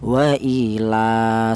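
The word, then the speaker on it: وَإِلَٰهُ: Adapun untuk panjangnya yaitu satu alif. Satu alif itu sama dengan dua harakat atau dua ketukan. Waila seperti itu.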